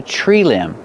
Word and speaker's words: limb: Remember with limb the B at the end is silent. This is a tree limb.